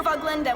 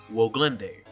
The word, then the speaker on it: Woglinde: In the panic, we hear yet another name they pronounce differently in the game. This is the cruiser Voglenda with the 117th. The ship's name, Woglinde. Unfortunately, I gotta say, technically the anime says it more correctly since it is a German name.